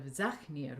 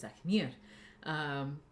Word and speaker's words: Zachnir: So again, heaviness, and so closed syllables, long vowels, that pulls the stress in this language. And so instead of Zachnir, we get Zachnir, which means completeness.